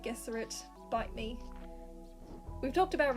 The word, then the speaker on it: Gesserit: gesserate and the mentats i'm aware people pronounce it jesuit i don't care i like gesserit bite me we've talked